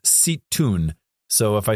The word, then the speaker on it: Zeitoun: It's spelled Zeitoun. I was told it's pronounced Zeitoun.